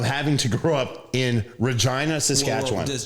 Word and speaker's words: Regina: so just really quick, um, how do you pronounce that city in Saskatchewan?" And Sar, I said, "Oh, Regina."